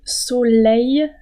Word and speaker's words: soleil: peut-être que vous connaissez mais la prononciation peut-être difficile pour un apprenant en français le soleil ye vous entendez le ye le ciel bleu la